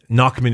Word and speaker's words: Nachmund: um also known as the knockman War uh knockman is spelled n a c hm u n d